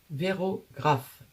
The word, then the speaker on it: Vérographe: En cas que j'oublie de l'écrire Vérographe. Véro, comme Véronique.